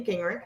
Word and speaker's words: Gingerich: my name is gingrich as foster mentioned and i spell gingrich how do you spell that ginger with an ich that's my perfect it's